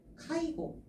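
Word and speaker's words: 介護: 간호가 되는데 저희가 많이 쓰는 단어 중에 하나가 끼일 개자에다가 지킬 호자를 집어넣어서 카이고 라고 읽거든요.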